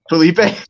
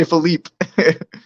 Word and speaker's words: Felipe: your last name right Felipe yeah yeah see everybody doesn't get it right A lot of people say phelip yeah because I was